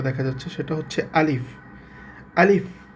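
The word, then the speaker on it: ألف: আলিফ শেষে একটা ফলায় যে ফ এর মত উচ্চারণ হয়ে একটা বাতাস বের হবে।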